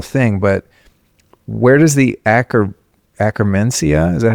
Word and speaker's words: Akkermansia: And I mean, we'd be here forever if I went through every little thing, but where does the Akkermansia, is that how you say it?